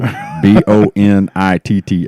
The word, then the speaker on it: Bonitto: Bonito. Bonitto. I got that one. It's not a silent T.